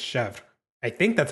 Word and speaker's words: Chevre: to say her name I think it's chevre but like I learned the French way which is just Chef I think that's how